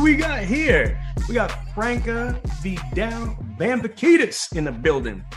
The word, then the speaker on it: Franca: It's Franca. Some people like to say Franca, but I grew up everyone saying Franca, so Franca's perfectly fine.